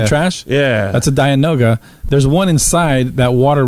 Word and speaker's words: dianoga: you watch that fountain there's a dianaga that noga i know i was going to say it wrong there's a dianoga creature who was the